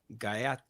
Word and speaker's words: Gaja To Ja: to you is what is the vision of guyot 2ja we pronounce it well it's it's a Polish it's